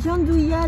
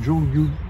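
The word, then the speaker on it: gianduja: J'ai découvert aujourd'hui que vous disiez Giandouilla. Giandouilla. Nous, on dit Jean Duja. On est... Bah, je le prononce à l'italienne.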